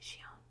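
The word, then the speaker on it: Xion: I think that's how you say it, right? It's on the wire. It's X-I-O-N. And I say Chun.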